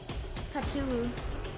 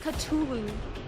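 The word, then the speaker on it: Cthulhu: bro they believe anything Kulu it's actually pronounced culu you could go to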